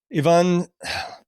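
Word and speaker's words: Yvonne: Ivan, how do you pronounce her last name? Strahovski. Strahovski. Is it Ivan or is it Ivan? It's Ivan, right?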